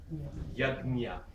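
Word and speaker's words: yajña: But my Sanskrit teachers in Oxford used to say jnya. Probably the best thing today, kind of a balanced thing, is to do gnya. J-N-Y-A, gnya. Yagnya. It still gives some acknowledgement to the ga and some to the nya sound.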